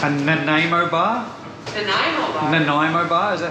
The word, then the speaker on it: Nanaimo: Nanaimo bar, is that how you say? Yeah, that's how you say it. Nanaimo bar.